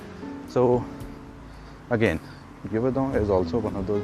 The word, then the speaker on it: Yverdon: And the other one is, that's a very tricky one for me to pronounce. It's called Yverdon.